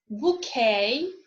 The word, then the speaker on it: bouquet: It is also not pronounced in a way recently borrowed words from French, as in bouquet or depot.